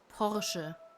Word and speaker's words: Porsche: You say it Porsche. It's not Porsche. It's Porsche because it's a German brand.